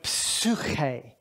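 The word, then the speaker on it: ψυχή: Now, I want you to say the Greek word psuche. Slowly, exaggerate. Psuche. You hear, these are onomatopoeic words. You know an onomatopoeic word? It sounds like what it's representing.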